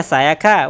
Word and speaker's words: Sayaka: Wait, have I been pronouncing her name wrong? Sakaya? Sayaka? Wait a fucking minute there. Sayaka? Yeah, Sayaka.